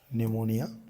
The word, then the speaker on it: निमोनिया: आपने पढ़ा ही है निमोनिया निमोनिया पी साइलेंट रहता है निमोनिया ठीक है देखो